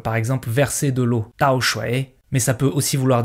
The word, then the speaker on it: 倒: 摔倒 ce caractère a deux prononciations différentes. Donc soit c'est 倒 comme ici, donc troisième ton, et ça veut dire tomber, mais on le retrouve très souvent avec la prononciation du quatrième ton, 倒.